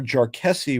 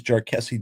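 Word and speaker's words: Jarkesy: So if that occurs, the court in Jarkessi, which was last year, and everybody pronounces Jarkessi differently, so that's fun. I'll call it Jarkessi, but you'll hear different pronunciations.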